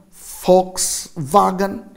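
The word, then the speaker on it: Volkswagen: it's the like in the german fox wagon where the v is like a fur here the b is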